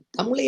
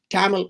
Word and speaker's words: தமிழ்: அதே போன்று தமிழை அழைக்கின்ற பிறர் தமிழ் என்ற சொல்லை உச்சரிப்பதிலே சிக்கல் இருக்கிறது. இப்பொழுது ஆங்கிலேயரை பாருங்கள், இங்கே வந்தபோது அவர்கள் டேமல் என்றுதான் சொல்வார்கள், டேமல். இவ்வாறுதான் பிறரும் தமிழ் என்ற சொல்லை உச்சரிப்பதிலே சிக்கல் பட்டார்கள்.